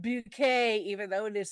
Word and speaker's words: Bucket: Appearances uh as uh I have to say it the way she would like it said playing Hi Hasid Bouquet. Yes, even though it is spelled bucket.